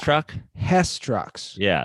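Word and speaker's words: Hess: down here what's a What's it how's it pronounced the truck the H Truck Hest trucks yeah it's like remember the old H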